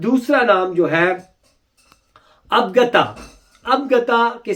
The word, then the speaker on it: Abagtha: ابگتا کے spelling English میں ہے ABAGTHA.